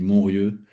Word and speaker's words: Montrieux: Alors, si tu dis Montrieux, tu vas te faire engueuler par les Varois. Ah mince. Mais je sais ce que je faisais en arrivant. Donc, ça s'écrit Montrieux, mais on dit Montrieux, et ça veut dire